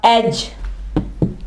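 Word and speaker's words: edge: इसके अलावा एज, किनारे को कहते हैं एज। यहां भी देख लें, डी आवाज नहीं दे रहा, एज।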